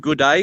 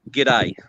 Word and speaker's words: g'day: you pronounce it right it's not not not good day it's g'day i went to australia